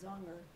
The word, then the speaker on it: Zonger: tell him how to pronounce Zonger.